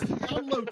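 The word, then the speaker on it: Yan Lo: I think he mispronounced Yanlo too right there. I don't. Landon, are you having a stroke? It's Yanlo 2 is the one you need to be afraid of, everyone.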